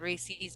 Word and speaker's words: Reese's: I say Reese's, but I have said Reese's because it's supposed to rhyme with pieces, Reese's right?